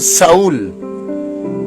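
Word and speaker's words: Shaul: Algunos judíos le dicen Saúl, S-H-A-U-L, pero en su pronunciación Saúl.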